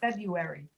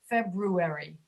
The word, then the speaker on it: February: Most people cannot pronounce brewery easily, so they eliminate the R. They say February, which is incorrect, but many people do it. They say January, February. It's not February, it's February.